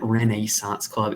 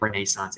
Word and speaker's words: Renaissance Club: reneissance club before we continue yes I did pronounce it Renaissance Club if you've ever watched the TV show How